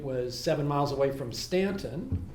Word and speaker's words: Staunton: It was seven miles away from Stanton, which is how you pronounce it if you live there. Even though people who don't know that, call it Staunton. It's really Stanton.